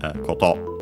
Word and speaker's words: koto: thing as in matter, accented on the final syllable, on the last syllable, koto. And then we have this ni, the particle, which in this case means for.